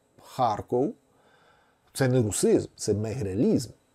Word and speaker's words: Харків: ми маємо на О я думаю їх треба вимовляти таким чином Харков це не русизм це